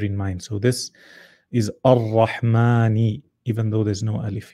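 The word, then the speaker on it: الرحمن: So you pull it, ar-Rahman, like that. And because people constantly wrote it like this, then just to shorten, they scratched out this alif in writing. However, in pronunciation, it's still there.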